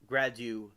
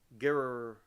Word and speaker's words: Girardeau: their flying saucer struck ground in rural Cape Gradu Field. No, it's Grado. That's how it's pronounced. I should know that because I'm down here. It's Grado. Grado. No, wait. Gerardo.